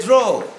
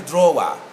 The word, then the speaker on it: draw: draw not a drawer it's a draw can we get the sound troll again draw draw it and then the americans draw even if you look at the phonetic representation there's no w there and even if we